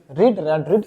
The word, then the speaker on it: read: है, यहाँ पास लिखा रीड स्पेलिंग सेम होता है, रीड पढ़ते हैं फर्स्ट फॉर्म में, रेड पढ़ते हैं सेकंड फॉर्म में, ओके, और थर्ड फॉर्म में पढ़ते हैं रीड, तो रीड, तो यहाँ